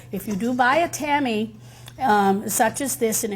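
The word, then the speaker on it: tamis: to put it through what's called um a c or a Tammy in French that's spelled tmis they sell these in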